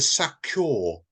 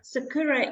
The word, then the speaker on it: Sakura: probably got it wrong is it the sakur publishing is that right Sakura sakur sakur Sakura yeah Sakura is the Japanese for uh cherry blossom ah right I